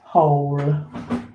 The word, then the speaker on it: whole: Number 3, whole. Okay, so that's a completely silent W there. But you have got the h and then ol. Okay, so ol, whole.